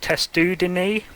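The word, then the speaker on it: Testudines: And in case you're wondering, as far as I know, that is pronounced testudini, and that is the umbrella for these species here: the terrapin, the turtle, and the tortoise.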